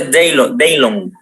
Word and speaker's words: Dijon: Se escribe Dijon, pero se pronuncia Daylon.